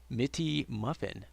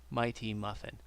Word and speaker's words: Mighty Muffin: Mitty Muffin. Mitty Muffin. Oh. The demon moves. Mighty Muffin. That's how you say it.